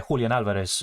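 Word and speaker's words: Julián Álvarez: get the minutes necessary can you say julan Alvarez in Spanish yeah julan Alvarez is really how you say it I mean I speak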